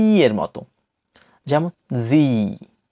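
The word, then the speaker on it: Sie: এরপর সর্বশেষ ডিপথংটি হচ্ছে ই এ, ই এ, যার উচ্চারণ হচ্ছে ই এর মতো, দীর্ঘ ই এর মতো, যেমন জি, জি।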